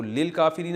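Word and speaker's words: للكافرين: तो लिल काफिरीन असल में था ली अल काफिरीना। तो अलिफ साइलेंट हो गया।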